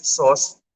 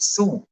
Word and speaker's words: sous: Okay, so ang kanyang spelling is sauce chef pero you pronounce it Sue. Okay. S-O-O. So it's sous chef.